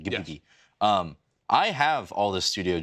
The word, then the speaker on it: Ghibli: The correct pronunciation, Ghibli.